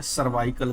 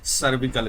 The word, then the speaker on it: cervical: सर्विकल cancer इसका सही pronunciation है, सर्वाइकल कैंसर हिंदी में भी बोल देते हैं या लिख देते हैं, लेकिन सही क्या है? सर्विकल cancer.